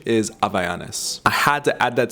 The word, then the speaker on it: Havaianas: In the West and in English, obviously the H isn't silent when you say something like Havaianas, but in Portuguese, if you were to pronounce Havaianas, you don't say Havaianas, you say Havaianas.